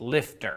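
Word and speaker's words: LFTR: thorium reactors or lft which they pronounce lifter lifter uses a mixture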